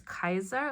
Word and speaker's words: Caesar: is like Caesar because we think Caesar actually in um Latin it is pronounced as Kaiser which means the leader and the Cleopatra is